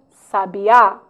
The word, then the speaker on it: sabiá: vamos alguns cuidados cuidado conheça a posição da sílaba tônica de algumas palavras sábia sabia sabiá Olha lá como é importante conhecer né a pronúncia para não errarmos na hora de uma acentuação misther Nobel ureter ruim